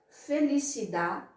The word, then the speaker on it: felicidad: Segunda palavra, felicidade. Não pronuncie esse D final jamais.